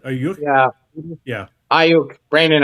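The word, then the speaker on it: Aiyuk: Ayuk. Brandon Ayuk.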